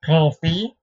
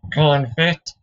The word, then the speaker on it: confit: Today's video is about the technique of modern confit, or confit if you suck at pronouncing things.